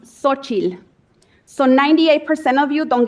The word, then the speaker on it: Xochitl: So my name is Xochitl Gonzalez, and it is pronounced Xochitl.